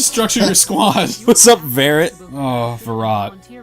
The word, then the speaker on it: Varrot: What's up, Varrett? Oh, Virat. Is it Varrot? It is. I'm, You have the I'm head- sorry. I'm sorry. It's spelled like carrot.